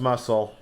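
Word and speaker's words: musl: Yeah, it's pronounced muscle.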